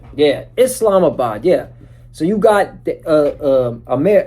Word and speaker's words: Islamabad: It's Islamabad. Yeah, Islamabad.